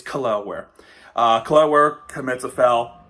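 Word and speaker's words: Jaquez: kle um I when I when I did a draft video of him I I pronounce Kell which is now I know it's I know is a butchered name so I apologize if you're watching this video somehow it's kware uh kware commits a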